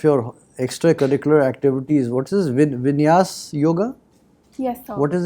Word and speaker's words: Vinyasa: Now, you have mentioned as one of your extracurricular activities, what is Vinyas yoga? Yes, sir. What is it? How is it pronounced? So Vinyasa.